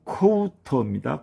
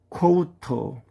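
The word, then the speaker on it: コート: 다음은 코우터입니다. 코우터. 코트 에트라는 뜻입니다. 여기서도 장음 부호가 들어가 있지요.요 장음 부호는 우로 발음하는 장음 부호가 되겠습니다. 그래서 코우터 커우터가 되겠습니다.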